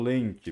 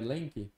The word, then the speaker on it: Lemke: Meu canal é Lenk mesmo. Que no meu YouTube nome, né? Escreve Lenk? Lenk se escreve L-E-L-E-M-K-E.